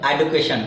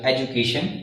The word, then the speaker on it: education: TION यहाँ से कई बार बोलते हैं एडुकेशन, तो that is wrong, so that we correct spelling is EDUCATION, education, and pronunciation is education.